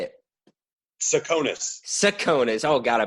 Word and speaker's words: Tsakonas: Tsakonas. Oh, God, I butchered that.